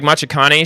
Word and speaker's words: Machikane: It's pronounced like Machikane.